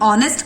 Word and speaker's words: honest: कर रहे हैं क्योंकि वहां पे जब हमने ऑनेस्ट कहा साउंड ओ का सुनाई पड़ता है. ऑनेस्ट. सो वॉवल साउंड जब आएगा तब हम ए एन लगाएंगे. दो it starts with a consonant but pronunciation में उसका वॉवल साउंड आ रहा है इसलिए हम वहां पे ए एन यूज कर रहे हैं.